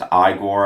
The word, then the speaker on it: Igor: I also really like the character of Igor, who is pronounced Igor, as he kind of reminds me of Fester